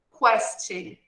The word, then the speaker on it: question: Sempre observando que nessa palavra, question, nós pronunciamos a vogal U, ok? Em português, muitas vezes, nós não pronunciamos essa vogal em palavras que têm esse conjunto de letras aqui. Porém, em inglês, essa vogal é pronunciada.